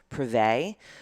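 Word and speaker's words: Privett: I think the way you say her last name is Privet, but it's spelled P-R-E-V. No, I'm lying to you. P-R-I-V-E-T-T.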